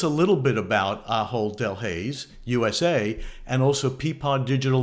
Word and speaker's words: Delhaize: Give me the best pronunciation. Delhaize.